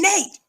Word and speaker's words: Nat: ones about Harriet and Nate. Once upon a time. Y'all know how I feel. There was a little man by the name of Nate. For Nat, it rhymes with cat.